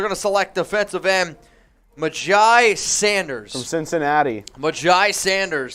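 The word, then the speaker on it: Myjai: cincinnati magi sanders so i believe that's how you pronounce it i think it's my jam my j no you're right i'm looking at the pronunciation now it's my j sanders a lot of raider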